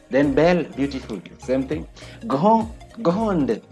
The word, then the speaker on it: grande: Grande, there's a difference. The E makes us pronounce this D.